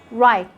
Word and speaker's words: write: you let your w letter w is going to be silent when it comes at the beginning of a word followed by an r like when you say write wrong wrist wrinkle rub